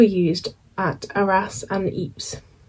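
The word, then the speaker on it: Ypres: as at Aras and Eeps that's the one that spelled like wi press if that helped you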